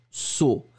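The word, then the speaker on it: seau: Phonétiquement, c'est exactement la même chose, on va le prononcer saut.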